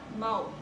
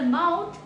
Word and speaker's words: mouth: Like I am speaking right now with my mouth. Mouth. Example is she opened her mouth to speak. She opened her mouth to speak. Then we have pronunciation 2, which is mouth. Ends in TH as in this.